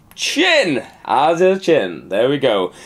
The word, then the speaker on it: Tchin: let's start off with chin I'm glad you pronounced that correctly chin a chin there we go um Eric Leblon